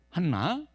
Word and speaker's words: 한나: 자, 이 안나의 히브리어 발음은 뭐냐면 한나입니다. 한나.